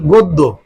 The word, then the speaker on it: গদ্য: থাকে, জ ফলা থাকে, তাহলে আদির অটা পরিবর্তিত হয়ে ও হবে, ওতে ওকার। তাহলে আমরা কি করতে পারি, এই যে এটার উচ্চারণ কিভাবে আমরা বলতে পারি, গদ্য, গদ্য, গদ্য।